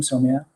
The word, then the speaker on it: Soumya: of India, and that's a common Indian name, Soumya.